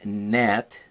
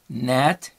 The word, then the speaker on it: gnat: Lesson 52 has more patterns of sounds and spellings, like the KN, N, like in not, the GN, like in gnat, the little bug.